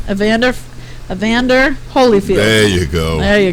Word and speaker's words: Evander Holyfield: here so we can punch your ass out ianda holfield how old is Mr Evander field Evander field or iander field holderfield right avander Evander Holyfield there you go there you go I can